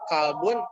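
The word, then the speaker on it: كلب: Kalau misalkan pakai kak, kalbun artinya dogi. Kalau pakai kof, kolbun bisa jantung, Hati. bisa hati. Ya, manajemen kolbu. Manage hati, bukan dogi ya.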